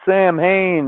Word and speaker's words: Samhain: They're trying to unleash Sam Hain, which is pronounced Samhain, on day 70 of learning fucking Gaelic on this side.